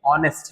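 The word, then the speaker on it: honest: यहां पे एच ओ या एन एस टी है तो होनेस्ट होना चाहिए था लेकिन नहीं है ऑनेस्ट है।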